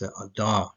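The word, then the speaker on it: אדר: It's Adar, this is how you pronounce it, Adar, Aleph, Dalet, and Resh.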